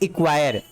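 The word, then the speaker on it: acquire: अब देखिए मैंने कहा कि सी वर्ड यहाँ पे साइलेंट है, कब, यदि यहाँ पे देखो सी के बाद के है, तो यहाँ देखिए सी के तुरंत बाद क्या है, के है।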